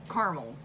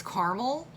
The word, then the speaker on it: caramel: But caramel. It's caramel. Caramel. It's 2 syllables.